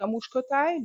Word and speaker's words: Muskotáj: Muskotáj, yeah, Muscatel. Muskotáj.